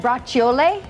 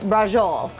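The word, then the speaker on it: braciole: i pureed you know there's some debate on how you pronounce this dish so in practicing my pronunciation in italy they say it brought chiole i think it my new york italians say rajol same dish we've got that mixed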